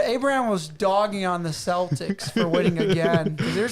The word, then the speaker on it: Celtics: happy with the final pronounce Celtics Celtics yeah that's how it's supposed to be pronounced I don't know man